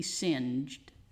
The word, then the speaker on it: singed: So the verb is to singe or to be singed. That's how that's pronounced.